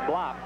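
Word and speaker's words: Blab: His name is spelled U-W-E, Uwe, B-L-A-B, pronounced Blop.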